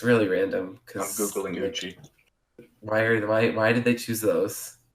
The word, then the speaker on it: Uchi: Uchi? Yeah, Uchi.